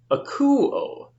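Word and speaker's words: ἀκούω: Now I'm giving a little extra stress to the accented syllable because I'm wanting you to understand that. We would normally say like akuo, but I'm saying akuo to give it a little extra flair so you understand the accenting.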